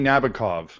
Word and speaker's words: Nabokov: No, I loved Yevgeny Nabokov.